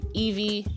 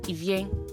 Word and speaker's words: Ivie: Anybody who calls me Ivie, Evie, no. Even Ivie, no. This is how you say it. Ivie. Ivie. And I'm not being extra. That's how you say it. That's how you say it. It's an Edo name.